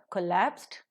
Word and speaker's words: collapsed: And if you take the verb collapsed, which happens to be a disyllabic verb, the stress falls on the second syllable, l.